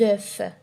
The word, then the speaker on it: œufs: On dit des œufs ou bien des œufs. Les deux prononciations sont justes.